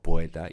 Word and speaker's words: poeta: un hiato por ejemplo la palabra poeta en castellano tiene tres sílabas porque estas dos vocales son abiertas y siempre se pronuncian como hiatos pues bien yo podía pronunciarlo como si fuera un diptongo poeta y tendría un entonces una sílaba - pero ya digo